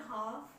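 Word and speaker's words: half: ठीक बात क्या है कि एफ और के से पहले अगर एल आ जाए तो वो साइलेंट रहेगा, बोला नहीं जाएगा।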